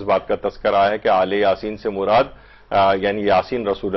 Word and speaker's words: آل یاسین: سلام علی آل یاسین، عام طور پر اس کو جو تلفظ کیا جاتا ہے کہیں الیاسین کچھ لوگ کہتے ہیں، لیکن مختلف جگہوں پہ قاریان جو ہیں وہ آل یاسین، اور روایات کے اندر